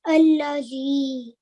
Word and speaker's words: الذي: That there's an alif, and if there's no stroke on it, we pretend like there's the stroke on the top of it, and then we pronounce it as allazi.